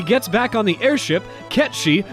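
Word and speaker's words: Cait Sith: back on the airship ketch she sorry we pronounced it wrong last week reveals shinra's plan to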